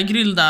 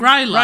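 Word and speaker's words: Grýla: Yeah, Grilda. The Yeah. Icelandic. Gryla. No, Gryla.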